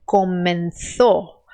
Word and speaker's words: comenzó: Então, um espanhol diria essa palavra como comenzó, comenzó, tá? Então, el oso comenzó ou comenzó. Se você está tentando fazer a pronúncia da Espanha, aí você coloca a língua entre os dentes.